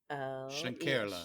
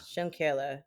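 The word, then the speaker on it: Schlenkerla: I think it's Schenkerla. Schönkerla.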